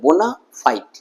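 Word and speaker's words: bona fide: ওয়ার্ডটা, এই এই ফ্রেজটা, এটা কিন্তু দুটো শব্দ নিয়ে গঠিত, বোনা ফাইট, কিন্তু এটা এমনভাবে উচ্চারিত হতে আমি শুনেছি একটা ওয়ার্ড বলে মনে হয়েছে, ছোটবেলা আমার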